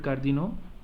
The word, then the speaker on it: cardinaux: Should I pronounce the X? No, so I have to stop with U here.